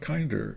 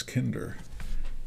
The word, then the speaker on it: Kinder: over here Ellis Kinder it's not Kinder it's Kinder it rhymes with win and sin Thunder uh a